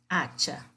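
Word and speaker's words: hacha: Acha. Las acha, a mesma coisa. O A aqui, o H aqui não é pronunciado, por isso aqui vem com o artigo masculino e aqui com o artigo feminino.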